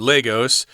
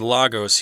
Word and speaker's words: Lagos: is called Lagos, or Lagos. I think it's pronounced both ways. We'll go with Lagos here, since that sounds how you'd pronounce it in Spanish, since I know a